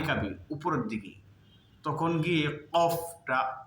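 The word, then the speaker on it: قاف: এই কফটা উচ্চারণ করার সময় ভিতরে গলার শেষের দিকে ভারী কাঁপে এবং উপরের দাঁত নিচের ঠোঁটের পেটের সঙ্গে এসে মিল হবে যেমন।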